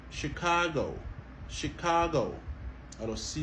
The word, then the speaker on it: Chicago: toujours sont OK donc au lieu nous dit chicado ça son exception à la prononciation de ch en anglais et bien il prononcé comme OK Chicago Chicago alors si n